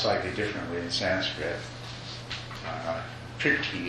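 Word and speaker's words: prīti: Priti is the way it's pronounced in Sanskrit.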